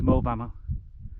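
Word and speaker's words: Moel Famau: hardly see anything but in the distance is mo bama it's spelled m-o-e-l f-a-f-a-u those little trick points are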